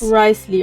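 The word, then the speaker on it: Wriothesley: Risley, okay, es wird Risley Collecting ausgesprochen.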